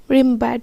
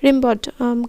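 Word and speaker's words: Rimbaud: Asleep in the valley is written by রিমব্যাড হবে রিমবড।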